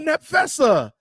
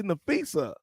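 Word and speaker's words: Napheesa: Nefisa. Right. P is not one. Come on, man. The P is silent, Kathy. The P is silent. It's like a F, but not Nap Fessa.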